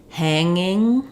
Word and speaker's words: hanging: word like um um hanging I don't have a g sound in there it's just the NG sound but in angry or anger um I have the NG sound and a g sound Ang angry um yeah okay that's